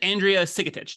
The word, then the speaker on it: Andrea Sigetich: back on for a second conversation this is Andrea sikitic did I remember the pronunciation right that's you did it beautifully yes